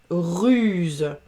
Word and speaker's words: ruse: J'ai un seul S entre deux voyelles, donc j'ai le son Z. Ruse.